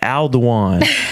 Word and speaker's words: Alduan: I was like, "No, my name is Aldwan." Al pronounce. Say it with me. Aldan.